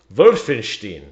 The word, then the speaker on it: Wolfenstein: Wolfenstein is... That's how you say it. Wolfenstein.